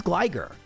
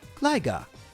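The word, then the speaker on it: Gligar: This is gliger. Unless you're from the UK, in which case you might pronounce it gliga.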